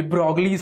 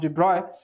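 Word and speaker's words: de Broglie: called Ibrahim physicists sometimes people call it the probably's hypothesis but it's pronounced deploy so Dubrow said that nature loves symmetry and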